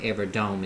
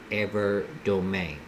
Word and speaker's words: Evardome: Okay, so it's kind of like the E is pronounced in A.